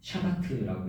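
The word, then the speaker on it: שבת: 안식의 히브리어 원어는 샤바트라고 읽습니다.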